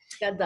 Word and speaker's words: Ghaddar: Am I pronouncing your surname right? It is Ghaddar? Ghaddar, Who yes.